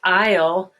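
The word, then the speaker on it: aisle: they would spell it it's i'll now you see it here a i in a particular font represents the i sound and then l you can tell there's no s pronounced so it's good way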